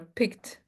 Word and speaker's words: picked: Okay, so remember picked pickled picked. Exactly. We pronounce the D but we don't pronounce the E.